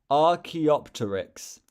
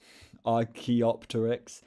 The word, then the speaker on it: Archaeopteryx: It's pronounced Archaeopteryx. Big flying dinosaur. Okay. Okay. Thank you. Archaeopteryx.